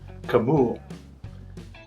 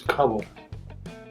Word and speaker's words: Kabul: And he pronounced where he was from, I think he pronounced it Kabul. When you hear it on TV, it's always Kabul.